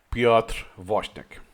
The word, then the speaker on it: Piotr Woźniak: When he say was, he means Piotr Woźniak, or pronounce it in Polish, Piotr Woźniak.